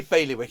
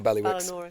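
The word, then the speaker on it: Bailiwick: We don't say baywick. Exactly. We don't say biwick or balwick. How are you? By wick.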